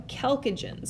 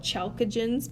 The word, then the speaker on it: chalcogens: Now the chalcogens over here, some people want to call it chalcogens, but you know it's not chemistry, it's chemistry. So you say it with a hard C here.